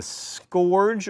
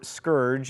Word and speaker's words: scourge: have been sent as a scorge or Scourge as it is apparently properly pronounced what I'm from Alabama